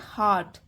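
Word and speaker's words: heart: place जगह हार्ट दिल इसकी प्रनंसीएशन जो होती है वो होती है हार्ट आर साइलेंट होता है हार्ट नहीं कहते हैं इसे हार्ट तो इस लाइन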